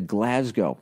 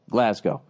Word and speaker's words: Glasgow: when I finally went I thought it was Glasgow so I wasn't saying it right then I went there and I heard how they said it Glasgow all of a sudden